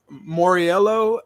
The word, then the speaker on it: Mauriello: first and foremost jordan is it moriello and that's where more yellow came from yeah i grew up